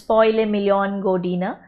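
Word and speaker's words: Posle milijon godina: First science fiction play ever written was Posle Million Godina. Actually, the pronunciation is Posle Million Godina, After Millions of Years, by Serbian playwright, poet, and politician Dragutin Ilic.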